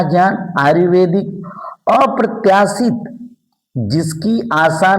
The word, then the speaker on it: आयुर्वेदिक: आयुर्वेदिक इस उड़ंतुआ र का उच्चारण इसके पहले होता है आयुर्वेदिक।